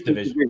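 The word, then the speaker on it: dvsn: How do you pronounce their name as actually Division? Yes. Or DVS? Yes, Division. It's Abusing Her Feelings.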